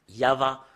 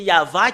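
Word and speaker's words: יהוה: On doit le prononcer comme cela. I-A-H. En fait, c'est pas faussé jusque-là. Mais depuis là, ça commence en V ou VH ou VA. Yava. Rien d'autre que ça. Et Yav, ça parle pas, mais c'est Yava qui parle. Et c'est ce qui est prononcé par les Juifs.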